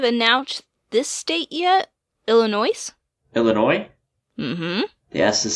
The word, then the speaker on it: Illinois: don't think we've announced this state yet Illinois's Illinois mm-hmm yes is silent they're not gonna like that Oh Illinois